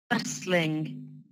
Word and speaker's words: bustling: university, favorite, favorite, bustling, bustling. So with bustling, the T, we don't really pronounce that much, so the T sound. Be careful. So that sound, not really said, so bustling, more like this.